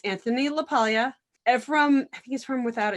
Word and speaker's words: LaPaglia: It's Anthony LaPaglia.